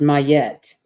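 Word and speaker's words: Ma'at: good that's lovely your inspiration oh it's actually pronounced mayette isn't ancient Egyptian deity associated with truth Harmony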